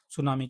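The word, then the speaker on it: tsunami: सुनामी की बात करते हैं। ये टी साइलेंट रहता है, इसमें सुनामी लिखा हुआ, हिंदी में सुनामी कहते हैं, इंग्लिश में सुनामी कहते हैं।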